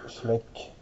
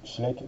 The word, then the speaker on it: Schleich: alors aujourd'hui nous allons regarder le cosur de Schlek alors au début je prononc schle mais en fait c'est comme c'est une marque allemande j'ai entendu des Allemands prononcés Schlek donc je me suis adapté et je le